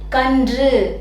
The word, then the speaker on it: கன்று: மாதிரி உச்சரித்த மாதிரி ஆயிரும் அதனால இதை நம்ம மென்மையா இது அதனுடைய இன மென்மை கூட சேர்ந்து வர்றதுனால இது நம்ம மென்மையா கன்று இப்படி உச்சரித்தா போதும் இன்று இந்த மாதிரி உச்சரிப்பு தான்